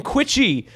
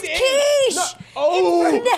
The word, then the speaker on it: quiche: talking about the fucking quitchy that I made just now. What's quitchy? Quitchy. It's like fucking spinach and egg and cheese and like a little. It doesn't matter. It's pronounced quiche.